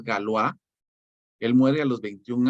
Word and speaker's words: Galois: joven que es galúa galúa se escribe galois pero es galúa él muere a los